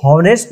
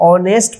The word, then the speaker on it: honest: WAS, was, honest, HONEST, इसको हॉनेस्ट नहीं पढ़ेंगे, इसको ऑनेस्ट पढ़ते हैं। यहाँ पे एच जो है साइलेंट हो जाता है, तो इसको ऑनेस्ट पढ़ेंगे।